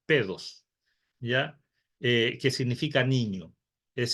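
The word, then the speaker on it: παιδός: Luego, cuando ese niño ya empieza a caminar, se le llama paidos o pedos, que se pronuncia pedos, ¿ya?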